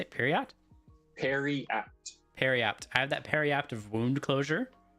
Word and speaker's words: periapt: Periapt.